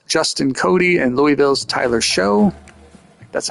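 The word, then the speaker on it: Shough: was Wake Forest Justin Cody and Louisville's Tyler show that's how you say his name American it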